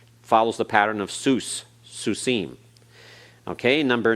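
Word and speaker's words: סוסים: Follows the pattern of Sus, Susim.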